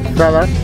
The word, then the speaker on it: Zadar: Se escribe con Z, Zadar, pero he oído que se pronuncia con la S, Zadar.